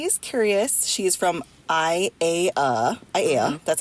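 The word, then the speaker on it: ʻAiea: in case anybody is curious she is from I a AA that's how you say it and there's this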